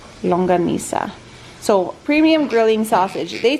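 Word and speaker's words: Longganisa: Longanisa. Longanisa.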